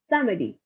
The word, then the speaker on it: samedi: Thursday is Judy, Friday is Wanjadi, Saturday is Samedi, Sunday is Dimash. Again, Monday is Lundi, Tuesday is Mardi, Wednesday is Makhidi, Thursday is Judy, Friday is Wanjadi, Saturday is Samedi, and Sunday is Dimash.